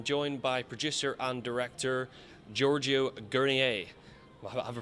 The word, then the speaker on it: Giorgio Guernier: I'm joined by producer and director Giorgio Guernier. Have I pronounced that right, That was Giorgio?